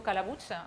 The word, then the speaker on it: Calabuig: Mon nom, c'est Calabuig. Calabuig, c'est valencien, c'est catalan, c'est pour ça que ça se prononce très mal.